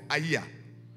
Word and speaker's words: Ai: And this was a city called by the name of Aiya. Okay, it sounds like a Kamba name.